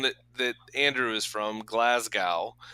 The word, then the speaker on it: Glasgow: that Andrew is from Glasgow there's a G in the middle of the word but when he pronounces it I don't hear a Gus sound at all Glasgow go it's like all